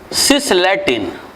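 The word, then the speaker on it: cisplatin: तो जो सिस वाला आइसोमर है, इसका नाम है सिसलैटिन। इसमें ये P साइलेंट होता है, इसका नाम है सिसलैटिन, मेडिसिनल नेम है सिसलैटिन।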